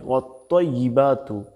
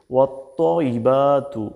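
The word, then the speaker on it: وَالطَّيِّبَاتُ: এজন্য খুব সতর্ক হয়ে বলতে হবে, এখানে যাতে তা না হয়ে যায়, এখানে তোয়া দিয়ে বলতে হবে ওয়াত্তাইবাতু। আমার সাথে একটু বলুন, ওয়াত্তাইবাতু, ওয়াত্তাইবাতু।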